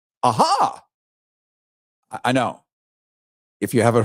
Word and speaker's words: AHA: Seriously, it's called AHA, A-H-A, or the Administration for Healthy America. AHA. That's how they're pronouncing it. That's how he's pronouncing it.